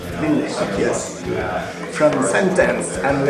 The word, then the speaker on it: Ville: Good pronunciation of it? Actually, pretty close. You have to kind of really put the L's. Ville. Ville, yes.